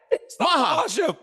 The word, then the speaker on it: Ankalaev: mahv chill was that it that was right mahash mahash okay mahash mahash W chill that was really